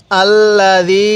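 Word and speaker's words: الذي: এরকম ভাবে পড়বো তাহলে আল্লাজি খলাক ফাসা আরেকবার আমার সাথে পড়ুন আল্লাজি দালটা নরম করে উচ্চারণ করব আল্লাজি কেউ খবর খা পড়বো না হ্যাঁ আরেকবার পড়ুন এরপরে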